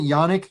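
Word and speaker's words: Jannik: Uh Wimbledon uh ended and Janick Center or how do you pronounce it? Yanick. Yanick Center.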